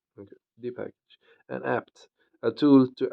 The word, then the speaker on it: dpkg: It is in fact an abbreviation of Debian Package and generally pronounced as dpackage. Okay, dpackage.